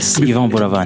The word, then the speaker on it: Yvan Buravan: Welcome, Yvan Buravan. Is that how you say it? Yes, you got it right. I got it right. Yes, Yvan Buravan.